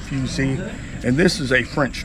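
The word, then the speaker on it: fusil: s i l but it's French so they pronounce it fusey and this is a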